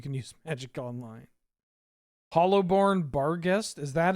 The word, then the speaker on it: Barghest: Hollowborn Barghest?